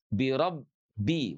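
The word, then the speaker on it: بِرَبِّ: namanya konatifnya ya ee praktik membacanya itu huruf ba itu ada mengalir sedikit ya birabbi walaupun tidak sepenuhnya mengalir tidak birabbil falaq. Kalau mengalir begini, birabbi itu berarti dia punya sifat rakhawah.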